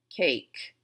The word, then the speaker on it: cake: Now, cake. I don't hear the E at the end, so I cross it off. It's silent.